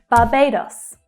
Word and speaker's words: Barbados: So there's a long vowel sound in the first syllable, but the stress is on the second syllable, Barbay, Barbay. And notice that the two A's are actually pronounced differently. Barbay, Barbay.